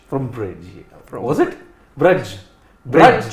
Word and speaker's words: Brij: Brudge, not Bridge. Bridge. No, it's Brudge.